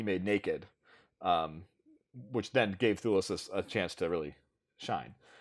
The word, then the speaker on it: Thewlis: but like famously, David Thewlis, I never want to say it, Thewlis, right?